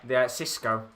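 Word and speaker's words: Xisco: So this new manager, I don't know how to pronounce it because it begins with an X. So I'm not sure how. Is it the Watford manager? Yeah. The Cisco. Is it? Yeah, it's because it's spelt with an X. I think it's a silent X.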